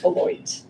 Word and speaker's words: Beloit: Robin Zebrowski is a professor of cognitive science at, is it Beloit? Beloit. Good, yes. Terribly mispronounced if you were French.